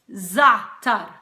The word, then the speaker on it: za'atar: Some people tend to pronounce the latter half of the word and say ZA'ATAR, but it's not ZA'ATAR, it's ZA'ATAR. So if you can't say the ZA'ATAR, you could just say ZA'ATAR and put the emphasis on the first syllable rather than on the second syllable.